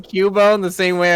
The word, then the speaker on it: Cubone: just i was pronouncing cubone the same way i was pronouncing zubat like zubit so it came out cuban oh no a cuban